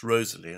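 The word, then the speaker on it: Wriothesley: a visa finally let's just look at Henry Rosalee I mean his name is said to be pronounced Rosalee and there's a lot of evidence for that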